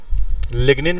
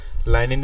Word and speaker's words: lignin: लिग्निन भी कहते हैं इसको कभी कभार, लाइनिन भी कहते हैं, लिग्निन भी कहते हैं. तो घबराना नहीं है, नहीं स्पेलिंग यही है, Yes, sir. LIGNIN। आप लाइनिन बोलो चाहे लिग्निन बोलो, Yes.